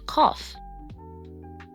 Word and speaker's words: cough: Rough, tough, and cough. In these words, the gh sounds like an F sound.